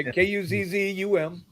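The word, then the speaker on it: Cosom: Well, it's COS. It's spelled COS. No. It's KUZZ. COSUM. Yeah, KUZZUM.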